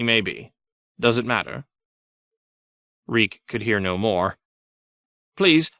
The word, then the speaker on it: Reek: he died at Winterfell my name is reek he had to remember his name it rhymes with freak Tyrion the selesori Quran